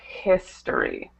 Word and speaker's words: history: we have the word history history hisory hisory right focus on that H sound you want to have a um vocal sound it's not history it's history history okay great so this